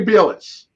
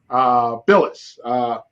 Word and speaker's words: Bilas: Jay Bilas. Billis.